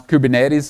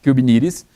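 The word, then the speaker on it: Kubernetes: human Cuban II discriminates depends on some people pronounce Cuban Aires other people pronounce Cuban e t--'s the fact is Cuban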